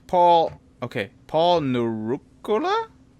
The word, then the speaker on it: Nurkkala: Somehow in the FPV community, it's become a fun joke to mispronounce my weird spelled last name in as many different ways as possible, but it's Nurkkala.